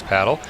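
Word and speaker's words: pádel: But in Spain, you'll say internationally the proper way to say it is paddle.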